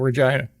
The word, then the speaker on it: Regina: from Regina Saskatchewan oh good old Regina Vina rhymes with fun sure Mike yeah yeah fun